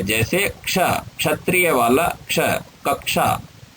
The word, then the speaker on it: क्ष: जैसे क्ष, क्षत्रिय वाला क्ष, कक्षा। तो इस क्ष में का, धन, श, इनका योग होने से क्ष बनता है।